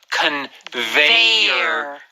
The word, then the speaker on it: conveyor: conveyor belt oh yeah but the first in English is a v sound V is an violin so it's a conveyor and the second one